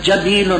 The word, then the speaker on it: جبیل: جمع ہے جبیل کی، جیسے قدیم، تو اس جبیل کا گویا کہ تلفظ بتلاتے ہیں کہ قدیم کے طور پر جبیل مفرد ہے، جبلن تو